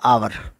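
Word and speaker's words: hour: अब यहाँ पे एच है लेकिन इसका जो हिंदी में उच्चारण है वो है आवर। हिंदी में उच्चारण क्या है, आवर, इसलिए यहाँ पे एन लगेगा।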